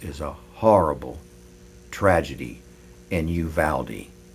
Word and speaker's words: Uvalde: But I shouldn't have a smile on my face because this is a horrible tragedy in Uvalde. It's pronounced Uvalde, Texas.